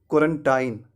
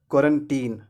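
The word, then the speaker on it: quarantine: वे कहते हैं क्वारंटाइन। तो इस वर्ड को क्वारंटाइन नहीं कहते हैं, क्वारंटाइन कहना गलत है। इस वर्ड का सही उच्चारण होगा क्वारंटीन। क्या कहना, क्वारंटीन। तो लास्ट सिलेबल को टाइन नहीं पढ़ना है, इसे पढ़ना है टीन।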